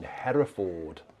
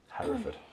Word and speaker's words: Hereford: who came us from above to the tune header Ford Hereford as it's pronounced over here um is it in here